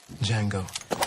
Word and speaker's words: Django: Django. D J A N G O. The D is silent.